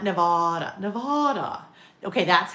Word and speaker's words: Nevada: You wouldn't look at that and think it was pronounced that way either, right? Anemone. Sarah. Anemone. Yes. Right. Anemone. Um, let's see. Not Nevada. Okay. Nevada. Nevada. Not Nevada.